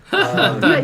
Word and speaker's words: Khaled: Khaled. You said the name wrong. You gotta say it with DJ Khaled.